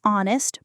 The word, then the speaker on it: honest: It has to be an because honest starts with a vowel sound. An honest person.